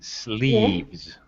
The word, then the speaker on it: sleeves: I prefer shirts with long slivers. S- Slivers. Pronunciation, Yeah. sleeves. Sleeves. Okay. Sleeves, it's one syllable.